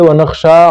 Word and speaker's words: نخشى: ونرجو رحمتک ونخشى عذابک، نخشا میں بھی شین کو اٹھانا چاہیے، ونخشى عذابک ان عذابک بالکفار